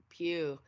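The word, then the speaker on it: Pugh: her character and actually florence like pew i don't even know that was that's how you pronounce her last name till right now so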